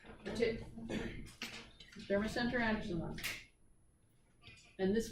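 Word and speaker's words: Dermacentor: This is Dermacenter. So Derma sent her and her son, the tick. Dermacenter and her son.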